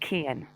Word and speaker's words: Cian: His name is Cian, and his mother pronounces it Kian.